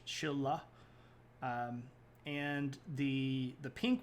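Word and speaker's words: Silla: is the Shila and I know it looks like Sila but you say it with an sh Chilla um and the the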